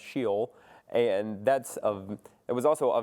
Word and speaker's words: Sheol: I'm pronouncing this correctly, but I think it's pronounced Sheol.